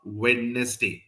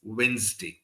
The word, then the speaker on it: Wednesday: It's not Wednesday. It's Wednesday. Okay.